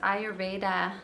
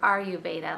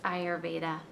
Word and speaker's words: Ayurveda: and contentment into our lives so and it's pronounced ayurveda not ayurveda like you're asking are you Veda it's ayurveda and so uh ayurveda is um from ancient